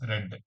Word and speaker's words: read: etc please see read read it is red you should pronounce it as red though the spelling is same read means present tense read means past tense ring gr say said